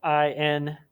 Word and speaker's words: Indira: And her name is Indira, which is spelled Indira.